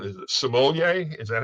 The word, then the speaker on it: sommelier: Is it sommelier? Is that how you say it? Sommelier?